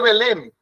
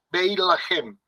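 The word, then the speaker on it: בית לחם: Por ejemplo, eh se dice Belén, pero realmente se llama Beahem, casa de la hogaza o casa de alimento. No se dice Belén.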